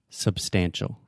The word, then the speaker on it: substantial: do you say Subs substantial substantial yeah the first sound is the schwa sound um uh substantial I